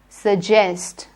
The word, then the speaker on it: suggest: sound joe for jug suggest suggest don't say suzest zernier joy next jupiter apology